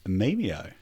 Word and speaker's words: Memeio: So, uh, today's episode we have Mimo. That is it. You pronounced it correctly as well.